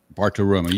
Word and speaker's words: Bartiromo: And there was an interview last week with Maria Bartiromo. Is that how to pronounce it, Charles? Bartiromo, right? Bartiromo. You used to date her, right?